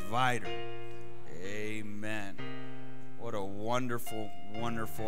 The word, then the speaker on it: Vidor: It's Vidor.